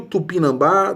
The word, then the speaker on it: tupinambá: Falso está na última. É oxítona terminada em A.